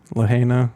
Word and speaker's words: Lahaina: of Lahaina alone do you know how it's pronounced Lahaina okay suggesting uh disbursement for its residents of